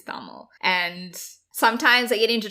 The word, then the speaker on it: Tamil: African Indians we are we've grown up saying taml but I know that the right pronunciation is taml and sometimes I get